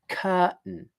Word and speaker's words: curtain: Okay, now the basic pronunciation of that word is curtain. It's two syllables. The first syllable is cur, second syllable is tun.